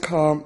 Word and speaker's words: car: However, in Welsh, it is two sounds, a, r. A does not change when it's followed by R, and R is rolled, ar.